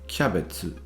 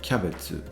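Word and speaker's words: キャベツ: So the word cabbage is actually pronounced kyabetsu.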